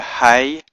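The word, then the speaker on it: היא: Hebrew is this word here hey yard or Herick yard Aleph which is pronounced he so the word for she is the word hey yud aleph which was pronounced he so I hope that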